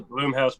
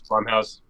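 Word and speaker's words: Blumhouse: decide shout out to bloomhouse Productions too Blum Blum House Blum House oh how you say it my apologies Blum House it's uh named after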